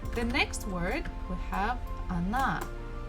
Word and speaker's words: она: So as we can see, we have O, it's one syllable, and another one is na, na. So this first letter O is not stressed. That's why I pronounce it as A.